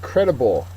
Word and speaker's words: credible: Our next word, credible. Credible is an adjective. First syllable is accented.